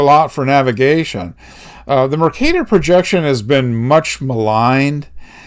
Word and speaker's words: Mercator: you pronounce this word it's it's mercator after the the famous cartographer uh geraldis mercator it's mercator it it rhymes with potato uh don't you say